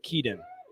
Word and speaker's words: Keaton: kidan keaton keaton keaton we are debating the uh pronunciation of keaton slovis it is key we uh we looked up a video of him saying the name and he says keaton uh so there you